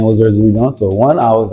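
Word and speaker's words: Erzulie Dantor: And you talked about, please correct my pronunciation, I got you. But it was the Urzuli Denali? Urzuli Dantor.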